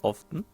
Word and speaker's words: often: you forced to relocate often often not often or is it often I don't know often I think often was the white one the tea is silent often did you ever go